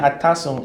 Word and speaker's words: Atasung: Please, can you pronounce that again? Okay, Odoro, O-D-O-R-O, then Atasung, A-T-A-S-U-N-G.